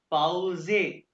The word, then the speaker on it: Pause: ये ये पास पे ई सर, को भी कहना सा, ई को क्या कहते हैं जर्मन में? ए, हाँ ए, यानी कि इंग्लिश में ए, पाउजे, पाउजे।